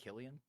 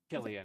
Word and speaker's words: Cillian: I think isn't it pronounced Killian? Killian.